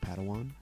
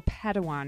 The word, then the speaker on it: Padawan: assigned a pad one to this bold Jedi pronounced Padawan Oh Padawan excuse me hey it's getting late I think